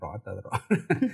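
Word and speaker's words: الرعد: Oh, surat Ar-Ra'd itu, Ar-Ra'd itu bacanya gimana? Ar-Ra'd.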